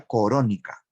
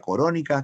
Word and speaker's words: Corónica: El título se escribe así, Nueva Corónica. Así lo tituló el autor, Nueva Corónica.